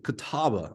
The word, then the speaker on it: Catawba: Help me welcome the head coach of Catawba. I made sure I pronounced it right.